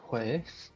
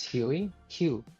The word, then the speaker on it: Huey Hugh: It can be pronounced like Huei for the second part of my name, but this is not Huei or by Huei. It is Huey Hugh.